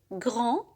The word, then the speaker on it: grand: grand كبير بدون أن ننطق الدي. grand.